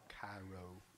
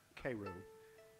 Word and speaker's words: Cairo: It's called Cairo Waltz, spelled like Cairo, Egypt, but it's pronounced, I swear, Cairo, like the syrup.